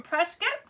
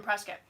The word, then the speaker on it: Prescott: Well, I didn't live in Prescott. Okay, so Prescott, Arizona looks like Prescott. And so a lot of people would say Prescott.